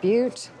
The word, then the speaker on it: Butte: I'd like a ticket to Butte. I believe it's pronounced Butte.